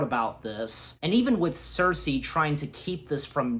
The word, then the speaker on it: Cersei: In case if I mispronounce it again and if I forget, so just a heads up. Cersei, there we go.